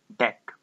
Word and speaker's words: deque: about double ended Q in short it is pronounced as deck let us first recall